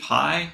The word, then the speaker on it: Pye: So Pi, I think, is our first PYE. Pi is how you say that name.